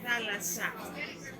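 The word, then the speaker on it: θάλασσα: Es el mar y falasa en el griego antiguo se pronunciaba falata. En griego nuevo es thalassa con dos E.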